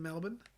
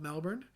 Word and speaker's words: Melbourne: I'm living here in Melbourne, as you guys like to call it. I would call it Melbourne because that is how it's spelled.